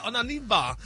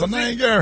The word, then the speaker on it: Onieva: time with actress Alejandra Onieva. Now, they're saying sources saying Tisha What's Onieva? Alejandra Onieva. You said it wrong. That's not right. Wrong. O N I E V A. Onieva.